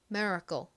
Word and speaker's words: miracle: 말씀드렸듯이 좀 된 소리처럼 바람 난다고 말씀드렸죠 그래서 미라클 이렇게 클 소리가 나는게 아니라 미국식 발음으로는 miracle miracle 이렇게 에 가깝게 소리가납니다 한국식 발음 그리고